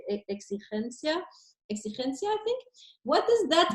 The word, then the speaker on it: exigencia: Or exigencia.